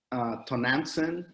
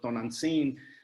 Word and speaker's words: Tonantzin: Tonantzin, I think is how you would pronounce it in English, but Tonantzin they would go worship her on this hill.